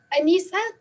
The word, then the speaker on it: Aneesa: Aneesa, did I pronounce that correctly? Yes, you did.